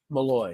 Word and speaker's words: Malloy: Malloy.